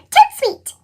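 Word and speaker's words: tout de suite: joyful news come over to sweet that's French for right away you say it like this to Sweet Nancy it's only 6:30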